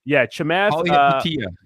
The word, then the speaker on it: Chamath: It's it's difficult to pronounce, Chamath? but it's Chamath.